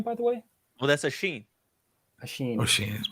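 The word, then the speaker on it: Oisín: what's your name by the way well that's a Sheen a Sheen oh she is my name I was wondering how to pronounce that so yeah it's okay it's a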